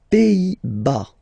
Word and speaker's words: Pays-Bas: Les Pays-Bas. Final S here, not pronounced.